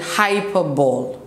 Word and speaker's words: hyperbole: So we're gonna start off with hyperbole. It's pronounced hyper, hyper, and then ball. So it's a hyperbole.